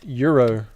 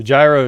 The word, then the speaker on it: gyro: right Hayden says LMAO it's a sandwich pronounced Euro oh so gyro is definitely not the way to say it man it's a g